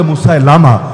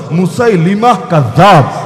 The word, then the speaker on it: মুসাইলিমা: আনসিনা আনাসি আরেকজনের নাম মুসাইলিমা যদিও অনেকে বলে মুসা লামা শুদ্ধ উচ্চারণ মুসাইলিমা হক নবী তখন কয়জন